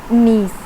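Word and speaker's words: Nice: नीस फ्रांस का city है, इसको नाइस नहीं नीसी कहेंगे, क्योंकि ये फ्रांस में इसको इस तरह ही सिटी को प्रोनाउंस किया जाता है।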